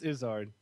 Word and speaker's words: Izzard: but uh well that's because his name is pronounced isard I pronounce itard gizard gizard you say gizzard